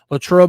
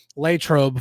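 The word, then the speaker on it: Latrobe: a different different place lro lro Memorial Stadium or latro for those who pronounce it that way uh um but uh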